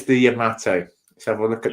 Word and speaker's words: Yamato: yes the USS photo you say Yamato and I say Yamato and the Japanese say the Yamato yeah because all syllables in Japanese are the same length they are indeed with